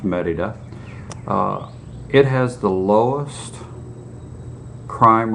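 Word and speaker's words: Mérida: think merida it looks like morita but it's pronounced merida it has the lowest crime rate per capita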